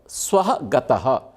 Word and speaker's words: स्वः: स्वह, ये उच्चारण देखिए, ये श्वः, श्वः मतलब टुमारो, कल, आने वाला कल। स्वः मतलब स्वर्ग। ये उच्चारण से इतना अर्थ भेद है, इसलिए हमें ज्ञान देते हुए उच्चारण करना। स्वः सड़क वाला है, दंत्य सकार, ये तालव्य शकार।